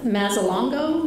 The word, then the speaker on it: Mazzalongo: that we had from Dr., see if I pronounce his name right, Mazzalongo, is that how you say it?